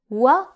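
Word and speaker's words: ورد: Waw as a consonant sounds like W in English, so it is pronounced like W in the word wide or the word well. For example, ward, ward.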